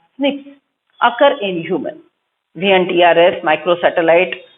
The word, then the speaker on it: SNP: The scientists have identified about 1.4 million locations where single base DNA differences, SNP, single nucleotide polymorphism, pronounced as SNPs, occur in human.